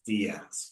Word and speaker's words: Diaz: Diaz. Yeah, Update. not Okay. Diaz, no, Diaz. So maybe make a note there on how to pronounce it. Not a big deal. It's Spanish. It's a Spanish name, but you're going to